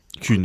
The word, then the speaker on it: Kuhn: Kuhn, on dit Kuhn, oui.